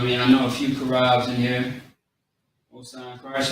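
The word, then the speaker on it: Charab: So we got the C-H-A-A-R-A-B. Okay? Karab. Is how you say it quickly.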